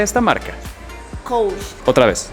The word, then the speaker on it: Coach: ¿Sabes cómo se pronuncia esta marca? Coach. Otra vez. Coach.